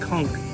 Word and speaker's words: conch: faster by trying some conch fritters yes it's pronounced conch not conch Critters it's conk conch fritters this is fried conch I don't